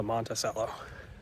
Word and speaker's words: Monticello: It's actually called Monticello, even though there's no H.